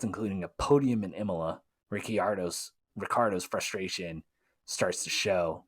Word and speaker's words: Ricciardo: are many things but ricardo his last name it's spelled ricciardo ricciardo and i remember an interview where he explained his name's actually italian so it's like ricciardo um but they moved